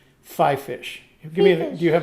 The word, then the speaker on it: FiFish: this is another one it's spelled f-i-f-i-s-h i have been pronouncing it five fish and everybody i see it on youtube pronounces it five fish give me do you